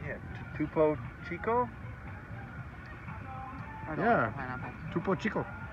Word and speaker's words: Topo Chico: How do you pronounce that? Hard seltzer? No, right here. Topo Chico? Yeah. Topo Chico.